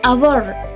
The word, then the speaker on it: hour: Example: an hour, an honest man. We say hour with a silent H as though it were spelled hour. So an hour is correct.